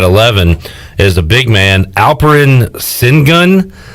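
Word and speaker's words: Alperen Şengün: is a big man alperin sin gun i believe it's as close to how you pronounce it it's funny because last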